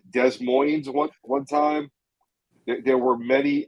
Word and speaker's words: Des Moines: I called Des Moines one time.